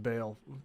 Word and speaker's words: Baal: Why I ought to it's pronounced Baal.